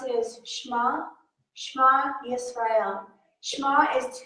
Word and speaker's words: Shema: And the way you pronounce it is Shema, Shema Yisrael.